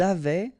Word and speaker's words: avaient: Ils avaient, so look here, E, N, T, you write them, you don't pronounce them.